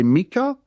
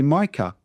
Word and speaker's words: Micah: Again, thinking about the vows, you could say Mikah. You could say Micah. Up to you. Just pick one. Doesn't matter it's a short or long I sound. Uh and so mah or mikah doesn't matter.